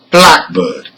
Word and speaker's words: blackbird: Let's hear number 2, blackbird. The same applies here. Black is stressed and it functions as a noun.